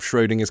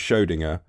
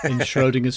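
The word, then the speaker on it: Schrödinger: took i brought up schrodinger's cat oh yes and we debated how to pronounce schrodinger yeah cause i for some reason i don't know why i thought it was schodinger it's not obviously i did google what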